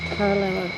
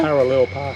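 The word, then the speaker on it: Paronella: We're doing the night tour of Paranella. Paranella? Parallel Park.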